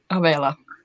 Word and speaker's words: Avella: Avela. Avella. It's like a Avela. longer E. Avella.